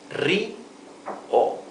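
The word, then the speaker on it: río: it, you can pronounce first the first syllable ri and later o. Ri o. Rio. The accent is always where the tilde is, right? This word has a tilde, so we know that the pronunciation is Rio.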